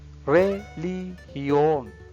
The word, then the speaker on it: religión: Religión, religión. You can see G sound as H sound because after the G, if IOE, then sound is H sound.